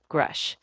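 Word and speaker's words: Grusch: So, while Burchett is amplifying the call for disclosure, Grush is the name really driving that whistleblower momentum.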